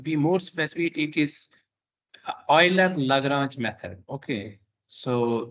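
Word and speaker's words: Euler: uh uh to be more specific it is oil and LaGrange method okay so this is uh Eiler this is pronounced method so so let's uh first go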